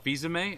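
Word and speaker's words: Fils-Aimé: Oh, Fizame? Is That's that how you Yeah.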